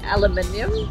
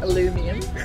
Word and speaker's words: aluminum: i'm yeah to say i say aluminium that is aluminum aluminum aluminum how you say it yeah they do say aluminum here in new zealand aluminium oil aluminum yeah